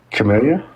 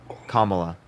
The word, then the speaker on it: Kamala: Camellia? Kamala? Kamala. Whatever. Heather, I appreciate the trash panda. Thank you. Kamala. Can you say it? Kamala. There you go.